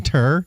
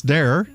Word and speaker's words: Darer: I was thinking terror because you told me terror. It rhymes with terror. And it's Darer. Yes.